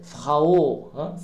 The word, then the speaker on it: Frau: Das ist Frau, Frau, Au, Au, Au, ماشي O.